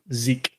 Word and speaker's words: SZ3KE: And by the way, for anybody listening, audio, his Twitter is SZ3KE. How do you pronounce that? Zeke.